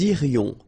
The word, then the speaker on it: irions: Nous irions. Final S not pronounced.